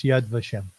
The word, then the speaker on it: Yad Vashem: to adem is that is that how you pronounce that yes Yad vashem yes the Holocaust yes yes it was a